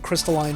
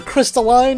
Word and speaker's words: crystalline: a weird little honeycomb crystalline pattern in the background i will say either crystalline or crystalline whichever pronunciation you prefer now here's a